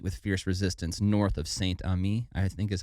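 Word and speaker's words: Saint-Amé: But Saint-Ami, I think, is how you say it. I don't know. Ames? Is it Ames? No S at the end. Okay. Saint-Ami. I don't know. AME. Saint-AME. There you go.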